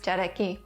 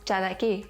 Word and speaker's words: ᏣᎳᎩ: The name 'Cherokee' (ᏣᎳᎩ) is an English pronunciation of the eastern dialect's jaragi, pronounced jalagi in the Western dialect.